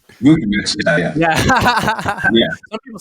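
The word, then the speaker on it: Vučević: So I would love to get, I don't know how to pronounce his name, Nikola Vucevic. Vucevic, yeah.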